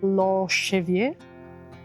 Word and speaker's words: Lopo Xavier: I asked for the right pronunciation, and it's actually lo xavier, which sounds French.